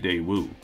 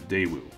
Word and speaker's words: Daewoo: over 20 years ago the emphasis should be on the first syllable not the last the day wulanos from 14 750 so going forward i'll try to say it as daewoo feel free to debate